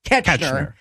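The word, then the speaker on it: Koechner: that Todd Packer / Champ from Anchorman, David Kochner, is that how that name's pronounced? Ketchner.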